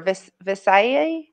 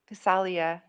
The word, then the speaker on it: Visalia: Visayas? I don't know. I believe on the West Coast somewhere. Thanks, James. We need to see it written and Visalia. There it is. Visalia.